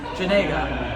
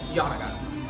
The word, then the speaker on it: Janega: So saying YAN-uh-guh was as good as anything. So basically, if someone came at me with Janega, I'd say YAN-uh-guh. And they're fine with that.